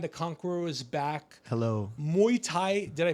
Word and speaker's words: Muay Thai: Muay Thai, did I pronounce it right?